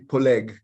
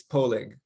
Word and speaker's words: Poleg: last name is actually polig but uh in north america it's difficult to pronounce that so it's polling yes it's almost like